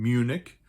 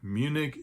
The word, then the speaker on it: Munich: There's actually an English spelling to that city's name, Munich, but in German we pronounce it München.